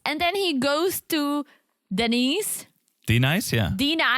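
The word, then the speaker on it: Dnyce: sure her name is I'm sure her name is Denise but the way it's spelled it's like d n y c e yeah and he like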